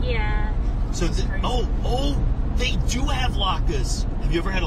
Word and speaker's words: latke: So, they do have latkes.